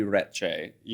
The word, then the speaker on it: Recce: Well, in the old country, it'd be Recce, with the double C's, So can I pronounce it that way? You can try, but, I think... Recce. Yeah, exactly. But we don't do that here. It's just Recce here.